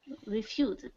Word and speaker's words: refused: The S here makes a Z sound. Z is a voice sound. This is one I often hear people make mistakes on, the Z sound.